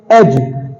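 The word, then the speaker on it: edge: जैसे एक एग्जांपल आप देखें, एज, ई डी जी ई, उसे हम एज नहीं पढ़ते हैं, उसमें डी साइलेंट है तो उसे हम एज पढ़ते हैं, एज, एज नहीं पढ़ते, एज बोलते हैं।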